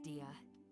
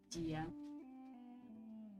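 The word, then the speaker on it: Dehya: And that goes for you too, Miss Dia. Дия. Разница в произношении и тому, что написано огромное. Дехя и Дия.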